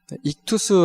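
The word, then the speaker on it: ΙΧΘΥΣ: 고백을 했던 어 방법이었습니다 고대의 아 이제 그리스 헬라어 로 이 물고기를 이투스 라고 이제 발음을 하는데 물고기 표시 안에다가 그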